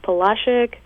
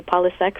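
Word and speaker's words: Polasek: to slaughter this, but Palashik Museum in Winter Park. Yes. I used to say Polisek, but I heard today that I was saying it wrong all along.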